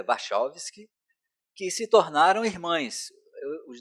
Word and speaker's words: Wachowski: e dirigida pelos irmãos, em inglês seria Wachowski, mas é Wachowski, que se tornaram irmãs.